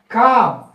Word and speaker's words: calm: c j l m l is the silent when you are calling this word as a calm so should be written